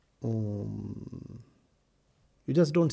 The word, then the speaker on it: Om: Om. You just don't say h. The very pronunciation has a certain method and a meaning.